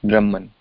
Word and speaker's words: Brahman: This word is pronounced as Brahman.